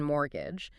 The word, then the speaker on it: mortgage: We went from basic definitions like salary and wages to complex concepts like recession and that crucial silent T in mortgage.